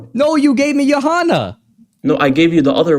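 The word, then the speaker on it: Yohanan: No, you gave me Johanna. No, I gave you the other one which is which had a C in it.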